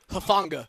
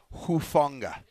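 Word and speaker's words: Hufanga: Called him like Hunga. Hunga. It's Talenoa Huanga. It's not It's not Hafunga. That sounds like a some type of disease that you need penicellin for.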